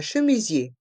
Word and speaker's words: chemisier: Et dans le mot chemisier, les lettres IER se prononcent IE, car les lettres E et R font le son E.